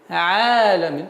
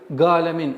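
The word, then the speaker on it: عالمين: И одна из самых распространенных ошибок при произношении айна это галамин. Альхамдулиллахи раббил галамин.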